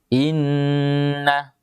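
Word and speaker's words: إنّ: Namun ketika nunnya ditasydid menjadi bacanya inna.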